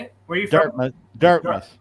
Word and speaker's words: Dartmouth: Dartmouth. Dartmouth.